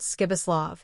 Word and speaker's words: Pribislav: A peculiarity of this given name was that you were to pronounce it as though it were spelled Skibislav.